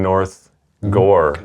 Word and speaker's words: North Gower: Well, I live in North Gore. North Gower. It reads like Gower. We had a guy come. I did a show there one time at Marlborough Pub in North Gore.